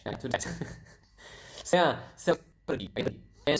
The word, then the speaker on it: pergi: So as you can see, I pronounce the R quite clearly. So it's kind of like Spanish. If you speak there, I think you will notice that Indonesian pronounce the R quite similar to Spanish language.